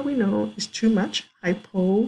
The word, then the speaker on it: hypo: Hypo rhymes with low.